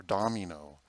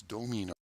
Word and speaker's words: domino: domino nostrum hodier our tendency for english is to change those into an ah sound like dominus or domino it's domino guilty as charged okay so